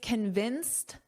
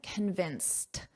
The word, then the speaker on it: convinced: So in this case, convinced, notice that pronunciation, a very soft t at the end, convinced.